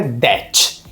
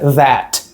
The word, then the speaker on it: that: Já o outro som, ele não vai ser um D, não é that, é muito próximo, mas não é. É that. É como se fosse um D, juntando com esse som da língua entre os dentes.